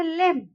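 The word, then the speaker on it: limb: लिम्ब, ये लिम्ब नहीं बोला जाएगा, इसको हम बोलेंगे लिम्ब। तो यहाँ बी साइलेंट हो गया।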